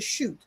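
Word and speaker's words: shut: It's the chute um sh u t and that's a long u with the line over top of the u and the shoot is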